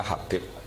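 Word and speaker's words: حبيب: Itu di harokatnya kitab itu ada yang nulis Hubab. Tapi yang benar, oh enggak, yang benar itu bacanya Habib.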